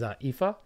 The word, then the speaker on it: Aoife: So moving forward, unless you've seen this name spelt out, it'd be difficult for most people to pronunciate it, because this is Aoife.